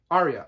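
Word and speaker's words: Aria: kingdoms is tales of uriah arya i should say how do you pronounce that anyway arya a-r-i-a just like the hotel in las vegas the arya that's it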